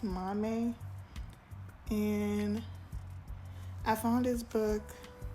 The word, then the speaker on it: Maame: Mom but I think in ganian tree it's meant to pronounce Mame and I found his